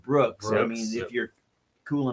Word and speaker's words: BRX: minus angst yeah Brooks BRX you pronounce it Brooks I mean if you're